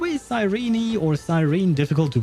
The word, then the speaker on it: Cyrene: Makes you feel worse in Japanese, it's Kirene. Yeah, I remembered you mentioned that. Yeah, but I'm used to Japanese people not mispronouncing, but pronouncing things the way they can, I suppose.